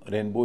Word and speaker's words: rainbow: पहला तो रेनबो ही है। आर ए आई एन बी ओ डब्ल्यू। नियम के अनुसार रेन पर अधिक स्ट्रेस होगा। प्राइमरी स्ट्रेस होगा और बी ओ डब्ल्यू पर सेकेंडरी स्ट्रेस होगा कम स्ट्रेस होगा।